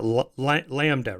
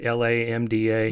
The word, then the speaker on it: LaMDA: How do you pronounce that? LaMDA, right? LaMDA.